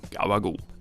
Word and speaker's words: gabagool: But that journey of ours explains why Italian Americans say Italian words the way they do, such as, yes, everyone's favourite, gabagool.